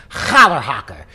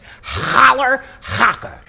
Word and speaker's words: Challerhocker: favorite cheeses holler haka now some people struggle with how to pronounce this cheese so let me give you a pro tip thank larry david with a hair caught in your throat holler haka this cheese is made